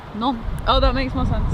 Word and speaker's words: Nantes: Someone says it's pronounced Nantes. None.